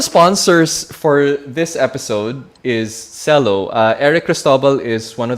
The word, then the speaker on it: Celo: So it's pronounced Cello.